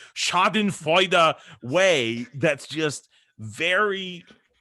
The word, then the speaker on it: schadenfreude: in this schadenfreude i'm sorry i have to pronounce the words correctly shot in fighter way that's just very it's camaraderie and i